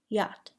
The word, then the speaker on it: yacht: Do not pronounce the CH in the following word: yacht.